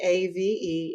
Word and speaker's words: Stave: Stave. It's named after the founders, Steve and Dave, Stave.